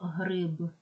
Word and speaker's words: гриб: вимовляти звук Ж або слово гриб в кінці вимовляємо звук Б а не п або репортаж в кінці